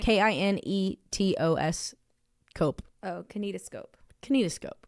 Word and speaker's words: kinetoscope: And in the case of Thomas Edison, he first showcased his movies with the kinescope, like, sorry, I know how to pronounce this. Kinescope? Yeah, kinescope. I think that's right. Kinetos cope.